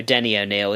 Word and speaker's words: Denny O'Neil: you say it right no Denny O'Neil is how he likes to be called oh really Denny like the restaurant Denny's yep so it's spelt